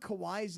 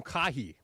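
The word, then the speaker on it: Kawhi: the Clippers and you think kawai's name is quah I had a friend to call him kahi kah kah Leonard if you're a seasoned ticket holder to the Clippers you should know that it's pronounced Kawai I think he's had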